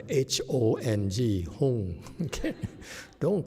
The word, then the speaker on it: Hong: Oh, by the way, folks, these people are Vietnamese, so don't call them Hung. Hong is pronounced H-O-N-G, Hong.